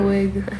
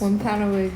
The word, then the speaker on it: Wampanoag: Wampanoag. Yes, do it 3 times. Wampanoag.